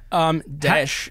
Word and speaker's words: Daesh: Daesh.